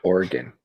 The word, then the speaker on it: Oregon: need to make sure you say it right Oregon you guys Mitch Miller running for president right